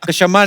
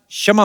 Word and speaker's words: क्षमा: मैं कशमा चाहेगा। शमा नहीं क्षमा होता है।